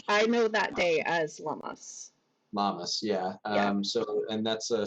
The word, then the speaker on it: Lammas: Lunaza is the modern day, or is paralleled by modern day Lammas, I believe is how it's pronounced.